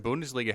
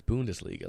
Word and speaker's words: Bundesliga: Borussia Dortmund, Alex, from the German Bundesliga, have made quite a few signings, quite a few big ones.